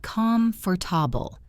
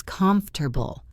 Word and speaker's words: comfortable: It is not calm for tobble. It is comfortable. Three syllables.